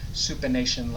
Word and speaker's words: supination: it pronation and supination some people say they remember supination like i'm asking for a bowl of soup although it's spelled sup not soup like soup or just remember